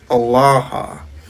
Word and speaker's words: Allah: And by the way, he spoke Aramaic, and the word for God in Aramaic is pronounced Allah.